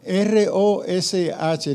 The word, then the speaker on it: rosh: Se escribe R-O. R-O-S-H.